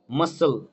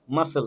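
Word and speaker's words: muscle: মাসল, মাসল, এখানে C silent.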